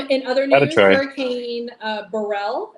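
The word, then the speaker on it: Beryl: other news hurricane uh Burell is that how you say it I think just barrel barrel really that's I have a cousin named Barrel in Honduras with that same spelling hurricane barel hurricane Barrel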